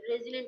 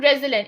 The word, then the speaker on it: resilient: Resilient also heard somewhere. Okay, it's Yes, not. It's not resilient. It's resilient. resilient. Yeah, Okay, ma'am. resilient. Put stress on that.